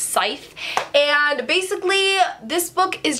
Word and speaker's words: Scythe: scythe by Neil Schusterman I pronounce this as zip and I got a lot of hate for it so I'm just gonna put that it's scythe and basically this book